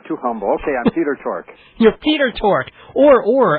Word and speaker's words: Tork: too shy I'm too humble okay I'm Peter torque you're Peter torque or or and I never